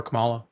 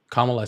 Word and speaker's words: Kamala: Why would you rather have him over Camala? Kamala. See, you got me saying it wrong.